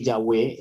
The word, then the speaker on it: Yahweh: los versículos y que en la pronunciación original del hebreo verdad la más antigua y y la más certificada por erudito filólogos y y entendidos en en escrito sagrado antiguo nos han transmitido que Yahweh es la pronunciación correcta es más tenemos inclusive